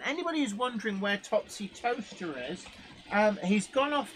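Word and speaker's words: Towcester: it was as well but actually yeah to toaster does exist it's near bratel on the A4 or just off the a43 A5 and it's spelled tester if you're wondering but it's pronounced toaster um Alan Downing says scalpers bought them all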